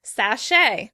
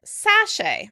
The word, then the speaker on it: sachet: Sachet. British would pronounce the word sachet. Sachet. Americans pronounce it sachet. Sachet with stress on the second syllable.